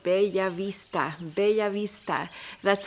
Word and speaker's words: Bellavista: that you would say Bell Vista because the double L's English speakers would pronounce it just like an L but in Spanish it's actually a different sound called Beav Vista be Vista that's how I would